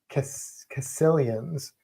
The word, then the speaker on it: caecilians: And he mentioned Sicilians, which are amphibians, they're not snakes, but he called them caecilians.